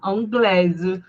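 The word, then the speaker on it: anglaise: Anglés. Parfa. Anglés. Pronunciei o a com i com som de e acrescentei o e no final.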